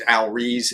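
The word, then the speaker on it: Al Ries: marketing, is Positioning by I think it was Al Rees is how you pronounce his name, and Jack Trout.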